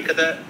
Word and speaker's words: Cadet: Cadet, like an army cadet? Oh, cadet.